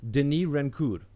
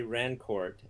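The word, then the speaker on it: Denis Rancourt: get this right so I want to get that French pronunci pronunciation correct Denis rancur yeah that's very good close very good very good yeah right so those yeah I don't mind when people say Rancourt uh but I do prefer the Denis as opposed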